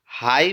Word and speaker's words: high: अगला प्रश्न है हमारा, हाई में मूक अक्षर है। हाई हाई जब हम उच्चारण कर रहे हैं तो यहाँ पर हम देख रहे हैं कि मूक अक्षर जो है जी और एच है।